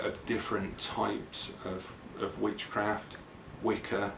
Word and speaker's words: Wicca: Wicca, which is actually pronounced Witcher, but not many people know that.